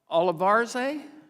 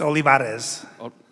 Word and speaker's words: Olivarez: uh Vietnam Veterans of America Mr uh olivar do I say it right well no with